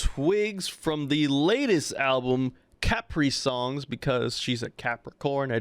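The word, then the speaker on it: Caprisongs: But FK Twigs back again for another solid project, Capri Suns. And one of the songs I just Capri Suns. Capri Suns. Said it wrong. Capri Songs. There you go.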